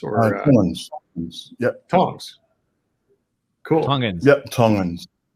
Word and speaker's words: Tongans: Well, that was a super fascinating dive into how Bitcoin improves the life of, how do you pronounce like people who live in Tonga? It's like Tongians or? Tongans.